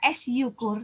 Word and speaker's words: syukur: Kita tidak membaca S yukur, tapi syukur. Artinya Y-nya menjadi seperti hilang dan digantikan, diwakilkan oleh huruf S. Padahal di sini ada pelesapan Y. Ya, syukur kita bacanya.